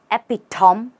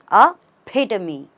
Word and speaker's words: epitome: word do you say epitom why now there is nothing silent here you say ay you stress on the p and you pronounce the me aamy a pamy try it with me